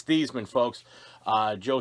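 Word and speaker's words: Theismann: and he's played alongside joe thiesman it's not theisman because theisman rhymes with heisman it's thiesman folks uh joe thiesman playing here uh in south river high school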